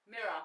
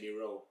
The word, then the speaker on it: mirror: You used to say miro. Oh, did I? Yeah. What's this? A miro. That's for speech therapy. that's a speech therapy. Mirror, right? We don't pronounce the rest of the word. It's just mirror.